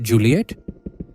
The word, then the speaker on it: Giuliette: They decided to name their daughter Giuliette, pronounced Juliet, and her middle name is Maria.